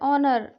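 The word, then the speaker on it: honour: ऑनर H silent है।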